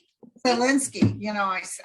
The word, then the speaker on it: Zelensky: Thank God for the intel that from Russia that gave the president, what is Savinsky, how do you say his name? Zelensky.